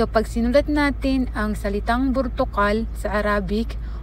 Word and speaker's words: برتقال: or ang color na orange sa Arabic ay burtukal. Burtukal. So, paano siya isinusulat in Arabic, or paano yung imla or yung spelling niya sa Arabic? So pag sinulat natin ang salitang burtukal sa Arabic o yung orange ay ba, ra,